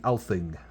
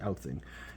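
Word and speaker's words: Alþing: Oh, so that thing that looked like a P sounds like a TH. So it's the Althing. Nice. The Althing.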